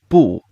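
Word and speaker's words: 不: just these things and there's also a tone change rule for the character bull which means no the first character here if this character comes before a verb in the fourth tone it also changes to a second tone so this will change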